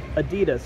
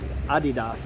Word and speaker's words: Adidas: And you can maybe see beyond that, we've got Adidas or Adidas, or however you like to pronounce it.